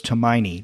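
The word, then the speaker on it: Tomine: a turn to me Tamina I never heard it pronounced when he was on NPR a few years ago as to my knee but okay I will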